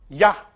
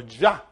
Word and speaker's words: Yah: But sometimes they symbolize it just simple, as yes, Yod He, which reads Yah or Jah.